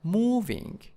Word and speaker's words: moving: And frightening, frightening in the first syllables, and moving in the first syllable, and then exhausted, exhausted, exhausted.